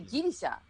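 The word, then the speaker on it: ギリシャ: said greece greece because in japan we say gilisha you know so i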